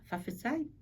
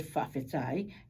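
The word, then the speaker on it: faʻafetai: Now, if I was to use the K there, notice how there's T there.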